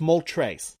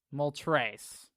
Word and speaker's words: Moltres: correct you there it's mole trace multrace because it's articuno zapdos moltres okay like i said